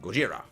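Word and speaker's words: ゴジラ: said in the movie it uses the Japanese pronunciation Gojira and ma man man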